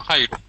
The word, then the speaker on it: Jairo: And let's say hello to John Gyro, how do you say your name? Jimenez. Jimenez. John, the name is John Jairo. John Jairo. Jairo. No, Hello, John Jairo.